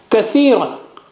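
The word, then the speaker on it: كَثِيرًا: Kathiran. Ka, tha, ya, ra, alif, ka, and the 3 dots for tha, and kasra, and 2 dots for ya with sukoon, and ran, 2 or double fatha on ra.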